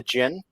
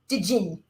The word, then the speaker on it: Jinn: Yeah, and Jinn is spelled D-J-I-N-N, like the traditional spelling. The Golem and the Jinn. Yeah, it's for some reason, my brain likes to call it the Jinn, even though that's not proper.